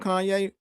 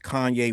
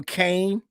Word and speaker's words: Kanye: And you were just Kanye West and they couldn't even pronounce your name. Remember they were calling you Kane?